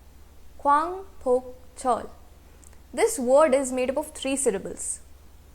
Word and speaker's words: 광복절: South Korea में इस डे को कहते हैं Kwangpokcheol. Kwangpokcheol. This word is made up of 3 syllables.